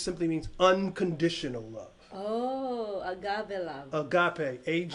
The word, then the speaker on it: agape: means unco additional love agape age agape unconditional you know some people pronounce it a gap a agape so either way but again that's